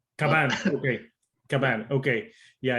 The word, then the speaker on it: Kvaen: I mean, if you want to say it in like the exact correct way, it's Kvaen. Okay. Kvaen.